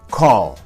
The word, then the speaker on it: call: La palabra call. La palabra call no es la palabra cal.